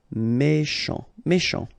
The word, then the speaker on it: méchant: Final T not pronounced. C-H together, sh. Méchant.